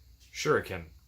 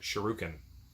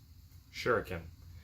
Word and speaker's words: shuriken: number six works and i've probably been pronouncing this wrong the whole time and you guys just been wincing every time i said it it is s-h-u-r-i-k shuriken and i've been calling it sheruken shuriken anyway look at